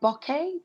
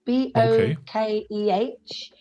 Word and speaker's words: bokeh: make like and i don't know how to pronounce it properly so sorry everybody it's um is it bokeh b-o-k-e-h would you use the bokeh would you use